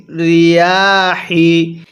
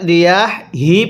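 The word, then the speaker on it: الرِّيَاحِ: অন্যথায় অনেকেই আমরা এই হাটা উচ্চারণের সময় রিয়াহ হি পড়ি। যদি এরকমভাবে আওয়াজ দিয়ে এই হাটি পড়ি তাহলে পড়াটা সহি শুদ্ধ হবে না।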